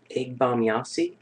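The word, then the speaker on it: Ege Bamyasi: all right uh here I got a can egg bomb Yi that's how you say it can C German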